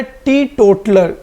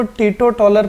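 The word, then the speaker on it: teetotaler: ठीक है, next word है टी टोटलर। इसको ध्यान से देखिए, अक्सर बच्चे इसको टीटो टॉलर पढ़ते हैं, तो इसका जो करेक्ट प्रोनाउंसिएशन है वो क्या है? टी टोटलर।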